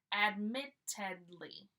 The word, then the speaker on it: admittedly: Here we are saying ed. Admittedly. 4 syllables.